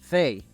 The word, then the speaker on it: they: ellos o ellas they quiero que notes que entre paréntesis pose th Y esto es porque en inglés hay una forma especial de pronunciar la th que no tenemos en español La manera correcta para pronunciar la th es poniendo tu lengua en de los dientes y soplando Inténtalo por favor se